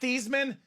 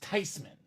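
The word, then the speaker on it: Theismann: living a lie the whole time it's not thesman it's not tysman it should be pronounced tysman German name Joe tysman for Tyler Thomson nice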